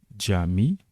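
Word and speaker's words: cami: Puis vient le C qui se prononce en turc, dje. Exemple, avec les mots jami, qui signifie la mosquée en français, jacket, la veste, jiv, le poussin.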